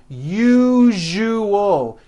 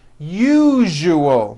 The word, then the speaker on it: usual: That second syllable, ju, the one with the underline, needs to be voiced. Put your hand on your throat and feel for the vibration in the second syllable. U-ju-ol. Now put it together. Usual. Usual. Like that.